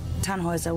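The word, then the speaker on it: Tannhäuser: what's your fan houser we'd pronounce it tan hoiser with a num load yes these things on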